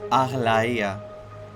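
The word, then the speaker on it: Aglaea: I do want to say though, again, the pronunciation is Arleia. Here they do call her like differently, but that's the right. It is a Greek name.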